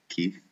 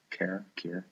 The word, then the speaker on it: Keir: I mean, it has enough very snore-festy people like Keith, Keir, however he pronounces his name. I know it's not Keith. Keir, Starmer, whatever.